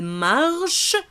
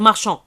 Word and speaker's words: marchent: troisième personne du pluriel marchent marchent plus nt marche regarder nt comble eux ne se prononcent pas flet verbe attention marche ça se prend on ça on va pas dire marchand ok donc je fais la